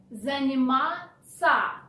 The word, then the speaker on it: заниматься: And moreover, instead of ся, which is the proper way to spell the verb, in spoken language you change ся into ца. Ц. Заниматься.